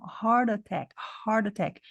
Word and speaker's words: heart attack: hard Attack Heart Attack mas ela fez um som de D que também é uma redução Heart Attack Eu imagino que porque já tem um R no final da sílaba aqui ó Heart Attack Fica dois sons seguidos de r e i ficar difícil então fala Heart Attack reduziu para um D tá bom Heart Attack